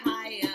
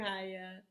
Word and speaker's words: Haya: Bye to the teachers, bye to the grown-ups, bye to the children, bye teacher Haya. And my name it rhymes with the fruit that grows from a tree called papaya.